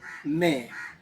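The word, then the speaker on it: may: जब ए के बाद व है तो इसका भी उच्चारण एक तरह होगा। तो एम ए वाई इसको पढ़ेंगे मैं। अगर एम ए वाई माय पढ़ते हैं तो गलत होगा।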